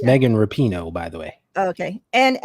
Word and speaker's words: Rapinoe: And it's Megan Rapinoe, by the way.